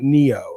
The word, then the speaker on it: Neo: Uh, it is pronounced like the Matrix guy, the the the game Neo.